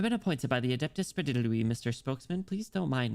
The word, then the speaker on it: Sprawiedliwy: All right, it's Sprawiedliwy. Um Did I even finish that line? I've been appointed by the Adeptus Sprawiedliwy.